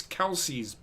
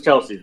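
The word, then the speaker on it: Kelce: Taylor Swift's box no he's probably in Travis Kelsey's box yeah but it's Travis Kel's box anyway go ahead and actually we've been mispronouncing his last name it's Kels it's Kelsey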